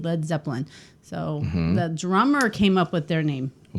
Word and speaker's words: Led Zeppelin: Well, they changed I don't know the anything much spelling about- because they didn't want people to use the wrong pronunciation of lead, so they changed it to LED, Led Zeppelin.